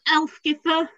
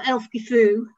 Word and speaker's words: Aelfgyva: But it's Aelfgyva or Aelfgyvu.